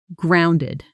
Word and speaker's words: grounded: Pronunciation grounded. Stress on the first syllable. Practice with me. Grounded in a sentence.